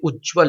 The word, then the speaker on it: उज्ज्वल: यहाँ पर दो यहाँ पर जो आता है आप देखेंगे दो इस प्रकार का ज आएगा और वल, ये सही इसका प्रोनाउंस है, ये सही इसका स्पेलिंग है।